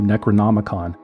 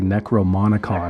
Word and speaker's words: Necronomicon: original cult Bible the Necronomicon which he repeatedly mispronounced as the necrom monicon necrom monicon was a complete work